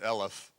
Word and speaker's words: Eloff: Well, he pronounces it Elif, like elephant, but he did good.